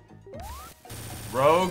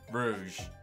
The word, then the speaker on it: Rouge: chronicles it's very butchered rogue or rouge it's always been rouge you had me questioning myself for a second there it's always been rouge don't get crushed nope